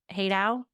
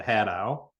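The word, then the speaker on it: Hadow: Haydowl. We pronounce it Hatau. Hatow.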